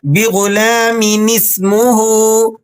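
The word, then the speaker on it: بِغُلَامٍ اسْمُهُ: ملا کر پڑھنا ہے۔ نون سین زیر نس، بغلامی نس، میم پیش مو، بغلامی نسمو، ہا الٹا پیش ہو، بغلامی نسمہ۔ اب درست تلفظ یوں ہوگا بغلامی نسمہ، بغلام اسمہ۔ آیت مبارکہ کی تلاوت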